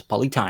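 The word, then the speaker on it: Polly Taem: Spelled with a Taem, but it's Polly Time.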